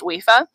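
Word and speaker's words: Aoife: It's an old Irish name and it's pronounced wifa.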